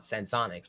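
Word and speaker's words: Senseonics: So apparently they call it Sensonics, but I would call it Sensionics because that's how it's spelled.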